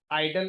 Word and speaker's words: IDLE: उस एडिटर का नाम है आइडल, IDLE, आइडल एडिटर।